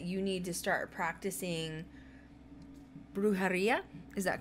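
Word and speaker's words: brujería: your guides that you need to start practicing brujaria is that correct i said it right perfect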